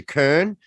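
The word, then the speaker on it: Köln: and if you i want to pronounce it like a german i'd say augsburg like when i say cologne i say kern um or if you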